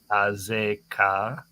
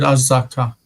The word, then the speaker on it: Azeka: ויהומם אדוני לפני ישראל, ויקם מכה גדולה בגבעון, וירדפם דרך מעלה 𝗥𝗘𝗦𝗡𝗦𝗧𝗓 Azeka. Why is it 𝗥𝗚𝗚𝗃 and not 𝗥𝗚𝗃, Jason? No, because you said Azaka.